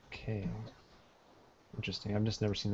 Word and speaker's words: quai: It comes from the French word, but it's pronounced like K.